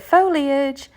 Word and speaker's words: foliage: I figured out how to say it, foliage.